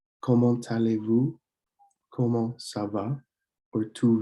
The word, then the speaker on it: comment allez-vous: And when you see the T follow or a consonant followed by the vowel, you'll want to link those sounds. So you could say comment allez-vous, comment allez-vous.